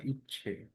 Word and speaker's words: ইচ্ছা: ইচ্ছে বলি না, ইচ্ছে, ধরেন ইচ্ছা বলি, ইচ্ছে, আমার ইচ্ছে করছে, হ্যাঁ, তো কিছু কিছু অনেকের অনেক ইচ্ছে করে, ইচ্ছে।